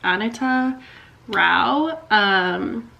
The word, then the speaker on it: Anita Rao: I thought it was Anita, but it's like Anita Rao.